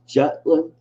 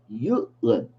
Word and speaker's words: Jutland: And the naval scene, you had I always thought it was pronounced Jutland, Mm-hmm. but it's Jutland because Oh. the J is like a ya sound because it's a German name.